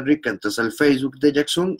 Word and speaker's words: Yaxun: Jackson se escribe YAXUN. Esa parte es importantísima.